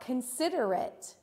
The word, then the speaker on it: considerate: How about considerate? Considerate. In 3, 2, 1. That's right. You hear the it sound on the end of that word.